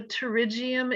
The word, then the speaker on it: pterygium: anybody know what a pterygium is it starts with a p it's a silent p p t it's a growth of